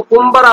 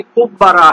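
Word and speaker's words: قبرة: یہ کبرا پڑھنا ہے، کمبر نہیں پڑھنا ہے اس کو۔ وہ کیوں؟ چونکہ جوہری نے صحاح اللغہ میں کہا ہے کہ عام لوگ اس کو کمبرا پڑھ لیتے ہیں، حالانکہ اس کا صحیح تلفظ وہی کبرا ہے۔ والصعوۃ وہی عصفور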